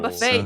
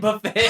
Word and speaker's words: Buffett: Oh my god, I think it's Buffett, but I think I Buffet, was but it's spelled buffet. but spelled buffet, yeah.